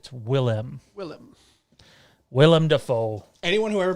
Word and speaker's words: Willem: Toronto Freddy says, holy shit, I'm so glad you pronounced Willem's name correctly. Yes, it's not William, although some people like to say it is. Do they? It's not. It's Willem.